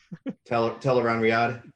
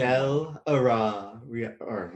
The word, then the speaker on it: Tel'aran'rhiod: I really want to try and pronounce it. Teleran Riyadh. Tel'aran'rhiod, yes, the dream. Teleran Riyadh.